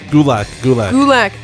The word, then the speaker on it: Gulak: Is it Gulak? How do you pronounce? Gulak. I went on his Twitter and it says it's pronounced like attack.